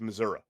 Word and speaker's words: Missouri: You can always tell someone from Missouri because they they don't pronounce the I. It's Missouri.